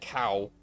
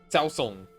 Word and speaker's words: Cao Song: The person who the first person to attempt flight was Cao Song, and it's not cow. It's not cow. It's not cow P. It's Cao Song.